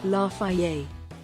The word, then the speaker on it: Lafayette: Lafayette. That's how it's pronounced.